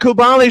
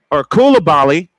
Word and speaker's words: Koulibaly: And now Koulibaly, I kept saying it wrong all night.